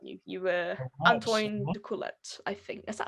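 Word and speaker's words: Antoine D'Coolette: Antoine de Coulette, I think.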